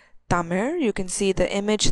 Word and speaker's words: Tamil: Tamil has its own script, and Tamil is actually pronounced as Tamir.